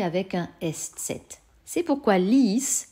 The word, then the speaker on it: ließ: Le prétérit, par contre, ließ. On entend que ce I est long. Comment écrit-on un I long en allemand? On le fait suivre d'un E.